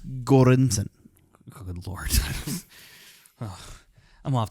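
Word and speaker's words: Göransson: um Frank it's Ludwig okay Mr cornson so pronounce Joseph Shirley yeah Joseph Shirley did a great job too it's gorinson good Lord oh I'm off the show I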